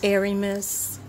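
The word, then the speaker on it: Ermias: ask you John Hermes Joseph ask you don't Aramis Aramis Aramis Joseph asked Aiden asked a dome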